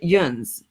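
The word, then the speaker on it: yinz: dialect in pittsburgh and people say that y-i-n-z that she has there they pronounced it juns where i lived and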